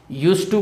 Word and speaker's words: used to: or gerund या get used to plus noun or gerund. See, I wish to tell you about the pronunciation of this model. Used to, don't pronounce D.